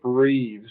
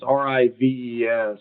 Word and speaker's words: Rives: The guy that did it, his name's Chip Reeves. I think I haven't pronounced the last name right. It's Rives.